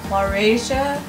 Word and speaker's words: Laurasia: of lorry croatia i should be able to pronounce that has my name in it but laurasia and the second continent um was known as